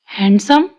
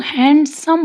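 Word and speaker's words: handsome: हैंडसम, इसको भी लोग हैंडसम बोलते हैं, पर ये हैंडसम, डी साइलेंट है।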